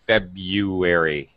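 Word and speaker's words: February: perfect you know and when you pronounce februari you don't have to you can pronounce it febuary you don't have to do that I I know it has the weird be our thing right yes you don't have to say februari you can just say febuary it's perfectly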